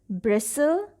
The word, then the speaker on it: bristle: the next word is bristle t is again silent bristle mean stiff hair